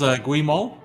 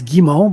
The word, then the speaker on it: Guimont: So is that pronounced Gimmo? Uh close. It's Gimmo, but most people pronounce it like you do, so I don't take offense like it's a French name.